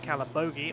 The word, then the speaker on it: Calabogie: in the voice channels this week, is definitely pronounced Calabogie.